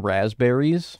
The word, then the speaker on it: raspberries: I don't notice any fuzz on raspberries. First of all, they're called raspberries when you don't even pronounce the P.